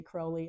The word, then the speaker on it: Crowley: should say I have to learn to say Crowley I know that's the correct pronunciation his card uh is not number eight